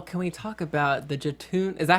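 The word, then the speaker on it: Jötunn: Well, can we talk about the Jatoon? Is that how you say it? Jatoon? Yeah, that's what I wanted to talk about it. That guy. The monster. Jotun.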